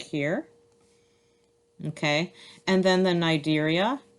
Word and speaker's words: Cnidaria: Okay, and then the Cnidaria, again, the C is silent.